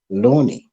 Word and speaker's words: Loani: to hear it from herself, the way she pronounced it, Loani.